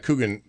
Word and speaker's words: Coogan: And then Steve Coogan, is that how you pronounce his name?